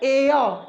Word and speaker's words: air: हम लोग इसको बोलते भी हैं एयर, लेकिन ध्यान दीजिए जो इसका करेक्ट प्रोनाउंसिएशन होता है यानी सही उच्चारण होता है वह होता है एयर।